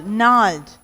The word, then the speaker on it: gnarled: So here all these places the G is silent.